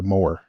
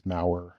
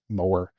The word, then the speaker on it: Mawer: at the company is Mower. So Mawer. Most Wow. people pronounce it as Mauer. Mauer. That's how I said it. Yeah. I mean, it's phonetically it's Mauer. It's Mower. Yeah.